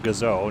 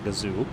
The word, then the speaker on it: Gazoo: gr86 Gazo racing I learned recently that it's pronounced Gazo not Gazoo is it really y I feel like everyone